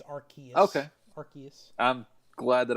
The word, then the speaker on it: Arceus: if there's anything the is the c is pronounced like a cup yeah it's archaea okay arceus i'm glad that i've been saying that wrong this entire time i always thought it was arceus until they put out a trailer and they're